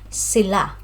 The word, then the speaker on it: sila: So pronunciation, sila is on the second syllable, sila.